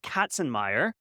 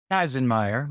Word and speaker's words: Kazenmayer: I'm going to say Katzenmeyer, and you're going to correct me by saying Kazenmayer, but close.